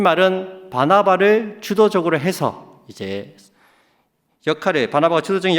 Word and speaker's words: 바나바: 이 말은 바나바를 주도적으로 해서 이제 바나바가 주도적인 역할을 했다는 것입니다. 근데 13장에서 바울이 설교한 이후부터는 바울과 바나바, 발음이 안 되나? 바나나가 아닙니다. 자, 바나바.